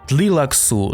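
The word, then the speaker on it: Tleilaxu: Але частіше за все це звучить саме як «Бене Тлілакс» або «Тлілаксу». — Bene Tleilax... Тобто у слові таке враження, що є аж два наголоси. Але все ж таки приємніше для язика та вуха, українського вуха, коли назва звучить саме як «Тлілаксу́» Ну а зараз саме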